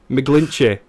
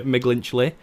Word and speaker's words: McGlinchey: I realised that I've been pronouncing it wrong for the last several years by calling you McGlinchey. But there's no L there, so I don't know where that came from.